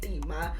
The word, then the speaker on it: Tema: Shout out to I Tema. mean, and I know Northside was like, can you pronounce Tema? And I used to say Tema before I said Tema.